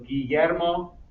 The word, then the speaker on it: Guillermo: So, Raquel, la doble L, suena como la Y. So, Guillermo, repita Guillermo.